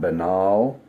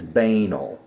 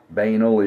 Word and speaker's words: banal: Everybody calls it benal. The first definition in the dictionary is banal. The way it looks. Sound it out. Right. Banel is a correct pronunciation.